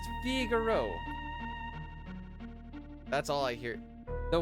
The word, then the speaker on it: Figaro: It's not Figaro, it's pronounced Figaro.